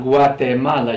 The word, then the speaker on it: Guatemala: Here's another example of having two pronunciations. Guatemala, Guatemala. You can hear the soft G, G sound.